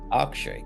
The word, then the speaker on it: Akshay: Akshay, correct. Akshay. Okay. It's like a SH, but it's an X.